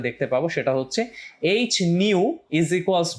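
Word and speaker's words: nu: নিউ, তুমি উচ্চারণটা একটু দেখো, এটাকে নিউ বলা হয়।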